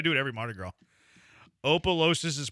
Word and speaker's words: Opelousas: Opelousas is pronounced Opelousas.